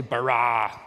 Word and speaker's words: bara: now the word for create is the word bara let me hear you say brah it's this forceful energetic word of making things out of nothing in the beginning Elohim barad the heavens and the earth now the earth